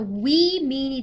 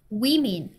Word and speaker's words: women: 이렇게 e가 들어가면 복수가 되면서 we mean이 됩니다. we mean. woman, women.